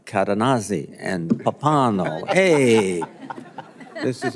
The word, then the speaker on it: Cadenazzi: The way I understood how to pronounce the witness's name was he said it rhymes with snazzy.